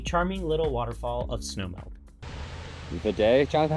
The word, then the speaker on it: Vidae Falls: While along the southern rim, we stopped at Vidae Falls, a charming little waterfall of snowmelt. Vidae? Jonathan, how do you say this? Vidae.